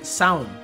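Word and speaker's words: Seam: cuéntanos algo sobre ti me llamó sin se pronuncia sound vaya casi lo agobia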